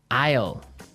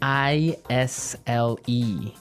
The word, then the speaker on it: isle: our second word now isle is a i s l e Isle Isle it's a tricky word it sounds like the contraction of I will yeah but it's spelled